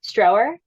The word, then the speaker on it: Stroeer: Sunny Strower. So her last name is spelled Stroeer.